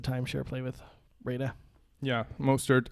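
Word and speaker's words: Mostert: could maybe pick up mosted as a as a timeshare play with Rena yeah most hurt I believe is how you say his name but this is definitely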